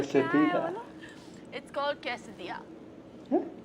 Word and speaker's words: quesadilla: जो भी है यार, What मैं is the पेश actual कर दूंगी आपके pronunciation? सामने। इतने प्यार से बोला है। Quesadilla.